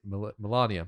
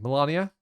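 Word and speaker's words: Malenia: Pronounce it. Oh, shit. Oh, you forgot, didn't you? I keep saying Melania. Melania? Melania.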